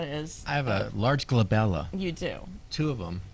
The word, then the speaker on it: glabella: the space between your eyebrows is called the glabella is that is that how you pronounce it yep I think or globella glabella no it's g l a b e l